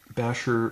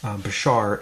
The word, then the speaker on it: Bashar: Okay, I've got a brand new uh Basher Bashar. I keep pronouncing that wrong. I'm sorry. Bashar STA experiment to try.